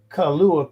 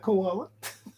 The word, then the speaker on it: kalua: Oh, kalua pig, not koala.